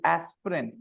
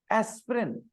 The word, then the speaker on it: aspirin: between P and R this I between P and R has no sound aspirin so that's why it has two vowel sounds and to denote that